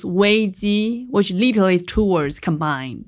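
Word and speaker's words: 危机: chinese the the word crisis and names it pronounced wayzi which literally two words combined danger and opportunities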